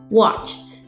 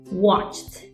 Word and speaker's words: watched: and not here therefore when you say watch in the past tense you should pronounce it with T in the end watched watched now if the less sound